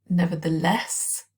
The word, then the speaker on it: nevertheless: stress um for example nevertheless nevertheless stress on the last syllable weak sounds as well